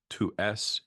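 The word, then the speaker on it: tu es: To s, you are, thou art, is pronounced exactly like tuer, the verb to kill, the imperative kill.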